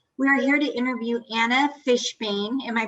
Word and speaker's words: Anna Fishbeyn: uh yes steve we are here to interview anna fishbane am i pronouncing it correctly anna yes fishbox she's the